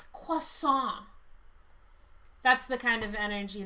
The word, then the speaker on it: croissant: do that though okay it's french that's not how you pronounce that it's not croissant it's croissant that's the kind of